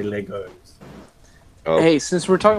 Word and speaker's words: Lego: say Legos. Never say Legos. Always say Lego. People do not say like when you say Legos.